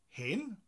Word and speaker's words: hen: Hen blant bach. Hen. Hen. So it's spelt H-E-N, like the chicken.